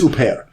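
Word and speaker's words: Huppert: bear i think yeah he just told me how to pronounce her name i think it's au pair um i've seen two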